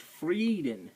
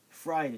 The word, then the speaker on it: Frieden: pronounced d d e when you see IE at all in German it's e like the word freeden it's not frieden and it's freeden and then the word